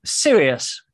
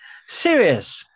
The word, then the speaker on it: Sirius: S is for Sirius, as in you cannot be. And Sirius. Some people pronounce it Sirius.